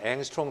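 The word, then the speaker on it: 옹스트롬: 그래서 이것을 여러분이 아는 앵스트롱 단위, 옹스트롱이라고 발음하고 하지만 그 옹스트롱 단위로 보면은 10배를 해줘야 돼요.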